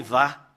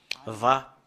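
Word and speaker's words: וה: Et sur cette partie-là, c'est Va. Va.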